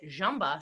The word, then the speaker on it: Ziemba: i met taught me how to say it jamba says correctly in polish and then later when